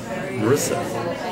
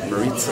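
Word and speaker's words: Marisa: We didn't get Marissa, except that's not how you pronounce it. I was just informed. Maritza. I think it's Maritza.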